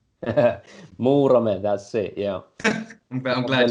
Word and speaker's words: Muurame: I mean, I'm not even going to try and pronounce it, but it begins with an M, right? Muurame, that's it.